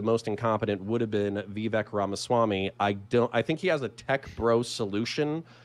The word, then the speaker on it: Vivek: It's Vivek. For the love of fuck his last name. None of you can pronounce his first name.